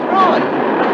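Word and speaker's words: Froy: Roy. I'm sorry, I can't hear. It rhymes with joy.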